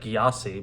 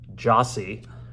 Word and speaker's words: Gyasi: know a little bit it looks like gyasi but it says pronounced Jossy uh they have a